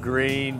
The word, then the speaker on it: Gruene: Green beans. Green. How do you spell that green? Well, yeah, G-R-U-E-N-U-E. U before E, except after G. E before U.